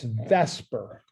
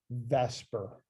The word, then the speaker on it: VSEPR: has a real fancy name and it's it's Vesper I know it's spelled the supper but it's generally referred to in chemical chemistry worlds as Vesper and that stands for